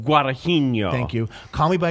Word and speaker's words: Guadagnino: time and I can't say his name Luca Guadagnino guada Heaney oh thank you Holly by your name is